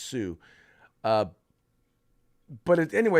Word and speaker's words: Hsu: board member uh the her name is sue or h hsu is pronounced sue uh but anyway it's